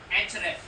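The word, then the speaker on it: Ahrefs: Sam rush के अलावा एच रेफ एच रेफ मत पढ़ना उसमें ए साइलेंट है इसको एच रेफ के नाम से ही जानते ये भी बड़ा किंग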